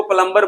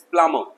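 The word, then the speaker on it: plumber: इसको प्लम्बर बोलते हैं। नो, बिल्कुल भी सही नहीं, इट्स प्लम्बर। ठीक है, बी साइलेंट है, प्लम्बर।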